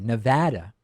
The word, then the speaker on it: Nevada: And in Nevada, not Nevada, I now pronounce it correctly, Nevada, 57-33 in favor of legalization.